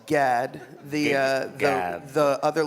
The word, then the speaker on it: Gad: last name the last name so it's just pronounced Gad the uh the other letters that don't exist